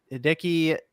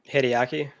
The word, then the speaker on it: Hideaki: and I I want to make sure I pronounced this correctly I guess well obviously Herman Holst but the other one is hiiki nishino hideaki hideaki thank you hideaki nishino okay so he